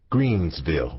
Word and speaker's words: Greenville: Greenville but we always pronounced it Greensville with an s that was home Greensville